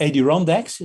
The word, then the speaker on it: Adirondacks: to the uh the adirondacks that's that's how you pronounce it sure the mountain sure